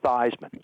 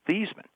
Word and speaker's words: Theismann: pronounce your last name I said it's thean he said no it's not it's it's now thyman I said no it's not it's theeman he said no no it's thyman so I said give